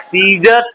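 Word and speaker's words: scissors: भलता राट क्या है सीजर नॉट अकी सोरस वट ट तो सी साइलेंट है क्यों सी साइलेंट है क्योंकि क्योंकि एस के बाद सी आ रहा है इसलिए एस गलो एस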